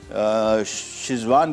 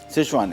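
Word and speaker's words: Sichuan: अच्छा जी, अब आ जाते हैं हमारी दूसरी रेसिपी की तरफ, जिसका नाम है सिचुआन चिकन, और शिजवान भी लिखा जाता है आमतौर पे, बल्कि जबकि इसका सही प्रोनाउंसिएशन सिचुआन है। और हम करेंगे क्या, बेसिकली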